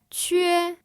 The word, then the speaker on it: que: The next one is que That is a Q, a U, and an E.